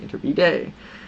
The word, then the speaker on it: Iturbide: in a specific biography I've been pronouncing it wrong should be inter bday um and came and